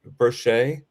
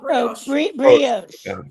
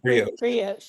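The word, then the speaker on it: brioche: It's like I might be mispronouncing it. Brchet. Oh, brios. Brios.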